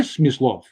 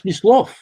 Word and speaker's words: Smyslov: So again, for example, I don't want to hear Smyslov. I want to Smyslov. The accent on the second syllable.